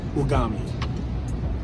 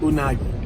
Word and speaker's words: unagi: I had the bao with ugami. Don't have me looking crazy. How do you say it? Unagi. Yeah. I had unagi bao.